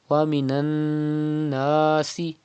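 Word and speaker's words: وَمِنَ النَّاسِ: You can see tashdid on noon. It is noon mushaddad. You have to pronounce noon mushaddad with gunna. That means you have to keep the sound in your nose up to 2 harakat.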